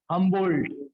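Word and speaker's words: Humboldt: तो ये इनका नाम था अलेक्जेंडर वॉन हमबोल्ट। क्या नाम था? Alexander von हमबोल्ट। हम बोल्ट, डी साइलेंट है इसमें, डी साइलेंट है, बोल्ट।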